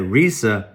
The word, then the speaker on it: Reesa: and you can't understand that Risa and two e in Risa made a long e and then you around and use a soft e in Tessa and you're the bright